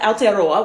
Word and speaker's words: Aotearoa: their parliament for consideration basically many feel that aotearoa which is more correctly pronounced better represents the country's history and would